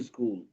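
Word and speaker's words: school: হ্যাঁ, এই হটা আসলে নাই, হটা সাইলেন্ট হয়ে গেছে, হটা এই পুরোটার সাথে যুক্ত হয়ে গেছে।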